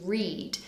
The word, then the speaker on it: read: And another one, which you could say is the same for all 3, but be careful of the pronunciation, is read. The spelling is the same, but the pronunciation does change.